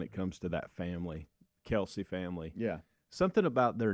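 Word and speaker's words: Kelce: comes to that family Kelsey family yeah something about their name and evidently everybody has been pronouncing their name incorrectly that it's not actually pronounced Kelsey it's like Kel's or something different okay it doesn't even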